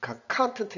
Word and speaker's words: content: 앞에 이거는 강세가 이거는 컨텐트 해가지고 이런 명사고요. 강세가 앞에 떨어집니다.